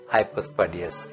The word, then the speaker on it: হাইপোস্পার্ডিয়াস: দিকে থাকে যদি তাহলে নিচে মানে হাইপো তাহলে হাইপোস্পার্ডিয়াস আমরা বলবো উচ্চারণটা হাইপোস্পার্ডিয়াস নিচের দিকে প্রস্রাবের রাস্তা